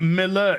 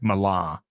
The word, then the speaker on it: Millar: of the two pounces Mark Miller no Mark Miller Mark Milan not Mark Miller Mark Millar it's not spelled Miller it's spelled Mila because it's Mark malar it's absolutely fantastic it'd